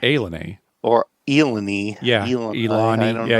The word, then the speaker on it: ilani: It's when you see it written, it looks like Illini, right? It's Ilani, but it's pronounced Illini.